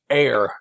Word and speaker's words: Heir: And that's Carnahan's Heir, not like hair. It's like right.